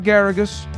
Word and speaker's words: Geragos: Mark Geragos rhymes with asparagus.